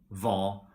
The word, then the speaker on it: hva: For example, we say hjelpe, and in all these question words like hvem, hvor, hva, we don't pronounce the H.